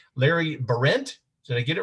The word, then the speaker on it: Behrendt: your last name larry berent did i get it right it's very close i just just just put the emphasis on the first syllable and you've got it right okay well now that